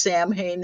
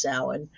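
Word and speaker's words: Samhain: It's commonly mispronounced Sam Hayne.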